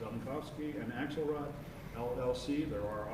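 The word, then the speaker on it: Zelenkofske: approve the bills all second yes vote yes southern cough ski that I pronounce that right it's on the cob ski and Axelrod LLC there are auditing firm that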